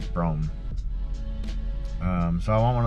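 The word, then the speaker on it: Brougham: rome it's spelled weird like broham but it's pronounced brome um so i want one of those i've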